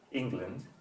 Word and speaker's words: England: pronunciation for the land so you say England stressing the first syllable and making salt the